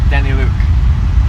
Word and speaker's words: Daneliuk: my surname, so it's Daniluk. Which one? Daniluk. Daniluk. Danila. Daniluk. Yeah, well, yeah. So we say Daniluk in Canada, but apparently, it's spelled Daneliuk. How would you say that? Apparently, it's Ukrainian.